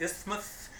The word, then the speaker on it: isthmus: thing is like Panama the Isthmus rhymes with Christmas begins with the isthmus